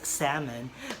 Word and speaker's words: salmon: mga social salmon daw, you have to pronounce the yung word na yan na silent L, so it's salmon.